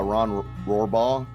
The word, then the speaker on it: Rohrbaugh: hey so aaron we were just joined by ron rohrbaugh am i pronouncing that right you got it yeah it's